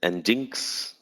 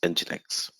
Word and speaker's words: nginx: many people call it enjinx many people call it ingenix engines whatever but that's not correct pronunciation it should be called as however you call engine and then x so it is nginx right okay so we